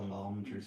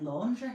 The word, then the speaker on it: Landry's: I keep saying laundry. That's how posh we are. I'm calling it a laundry card. Because I feel like the way it's spelled, like my mind just works. Yeah. And just automatically reads what it think it says, and to me it looks like it says laundry, or it's is it landry?